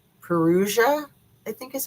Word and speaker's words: Perugia: And so she went to, I always hack the name of the town, Perugia, I think is how you say the name of the town.